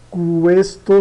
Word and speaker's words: questo: Questo soldato molto corago. Corá, tá? E quase a gente não vai perceber ele. O QU aqui dá o Q. Esse u aqui como se tivesse um trema pronunciado.